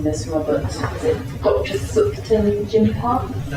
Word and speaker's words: Thupten Jinpa: And I might need your help pronouncing this, Robert. Is it Dr. Thupten Jinpa? Thupten Jinpa, yes.